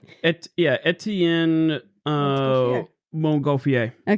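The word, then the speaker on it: Étienne: Etien.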